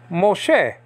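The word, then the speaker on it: משה: Wa yomer Elohim el Moshe. El means to Moshe. Moshe is spelled out M S H. Okay, or M-O-S-H-E. And then the H is silent, though.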